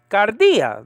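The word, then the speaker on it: καρδίᾳ: man in the entei gardea that's the word that's the magic word kappa alpha delta iota with the acute marker alpha so the the syllable is on the is on the second syllable uh uh dia okay remember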